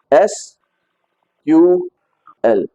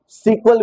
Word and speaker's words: SQL: आर the same thing उसको कुछ लोग सीक्वल प्रोनाउंस करते हैं कुछ लोग एसल प्रोनाउंस करते हैं बोथ आर करेक्ट वेज ठीक है एक ही